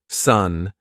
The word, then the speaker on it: son: Son, zoen, is pronounced exactly the same as sun, zun.